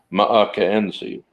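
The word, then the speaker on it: M'k'n'zy: New Frontier with uh Captain makenzi Calhoun or McKenzie Calhoun but that's how he pronounced his name on his Planet MAA enzi of Calhoun and they actually made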